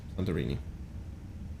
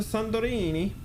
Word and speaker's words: Santorini: go airplane welcome to santorini and again i pronounced it like it's satania italian which is absolutely not it's greek there you go 35